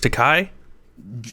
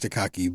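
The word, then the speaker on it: Takei: George Takai? Yeah, I say George Takaki because it's pronounced Kai, but it's spelled Takaki.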